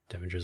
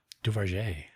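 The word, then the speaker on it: Duverger: Devingers law. Duvengers. Dues. Duver. There's no N. Duver. Duer. Duver. Duvar. Oh, Duvar. Duvar. Okay. Duvar's law. Nice. I said it wrong before.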